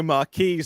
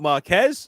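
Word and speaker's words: Marques: Verge and you just you just called their hero Marquis not Marquez so for them this is the end of the world like you mispronounced their hero yeah so many it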